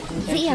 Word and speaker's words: 子: Zi is a bit harder. It's pronounced like the last part of C's. It can have the third tone or no tone at all, depending on how fast you say it.